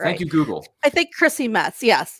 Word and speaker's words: Chrissy Metz: i'm pronouncing her name is it christy metz or christie metz uh chrissy metz there we go i just checked it